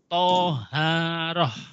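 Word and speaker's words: طهارة: ke pembahasan bersuci bersuci disebut juga thoharoh tulisannya thaharoh ya bacanya thoharoh Alvaro kharar Oh hohoho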